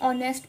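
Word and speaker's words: honest: English में होता है एच ओ एन एस टी हन लेकिन नेस्ट में क्या होता है एच साइलेंट हो जाता है तो हम उसको सिर्फ ऑनेस्ट पढ़ते हैं ऑनेस्टी ऑनेस्टी ऑनेस्ट हम ऐसे उसको प्रोनाउंस करते हैं ऐसे ही अरेबिक में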